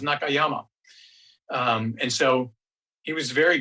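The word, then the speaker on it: 中山: In Japan, his name is Nakayama, right? Zhongshan is pronounced Nakayama.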